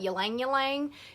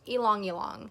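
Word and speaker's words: ylang-ylang: People call it ylang ylang. It's actually pronounced ylang ylang.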